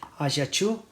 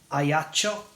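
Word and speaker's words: Ajaccio: in or close to the city of aachu or aacho as we say in Italian I'm not sure the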